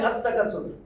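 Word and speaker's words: التكاثر: আততাকাসুর।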